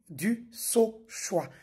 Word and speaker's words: Dusauchoy: Ces derniers temps, vu que je suis beaucoup cité, chacun y va avec sa prononciation. Je suis du sa choix.